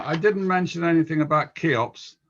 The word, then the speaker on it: CHEOPS: didn't mention anything about keops i think that's the way to pronounce it not cheops keops i believe and i'll leave it